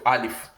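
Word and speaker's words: ألف: i al if so the English equivalent of alif is something like father when you say father for example is the English equivalent of al if because when you give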